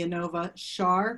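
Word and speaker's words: Inova Schar: She was recently named the Peterson Chair of Breast Cancer Research at the Anova Char Cancer Institute. Am I pronouncing that right?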